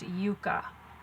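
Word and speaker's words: yuca: It says yucca on there, but I have been doing some research about it, and it's actually pronounced yucca.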